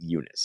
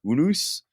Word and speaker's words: Unus: Unice the Untouchable or I pronounce it Unice is it supposed to be unus God I hope not I say Unice yes so do I